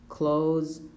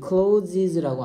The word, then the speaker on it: clothes: To make clothes, socks, and ties. 원래는 clothes 발음인데 실제로는 s로 하기도 해. Clothes. 이거 closes라고 안 하고 그냥 뭐라고 한다고?